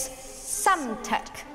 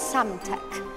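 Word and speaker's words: Psamtik: see well it is some tech yes that the P is silent so it's some tech how was that I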